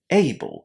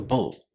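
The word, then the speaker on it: -able: Here it's an unstressed ending. It receives no emphasis and because of that it's pronounced in this very short way as a bull.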